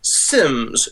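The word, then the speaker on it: Symmes: I think his then you probably would pronounce it John Cleave. Sims Jun.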